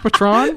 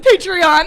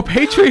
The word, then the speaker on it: Patreon: patron and my only fans is that not pronounced patron patreon oh patreon i spelled it in all fairness i spelled it wrong in the chat uh well i think i always thought it was called patron pedrot yeah and do not forget to follow